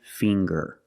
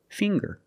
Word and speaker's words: finger: with ginger very good and finger finger we see the nasal um sound plus the hard G the G um finger I have ten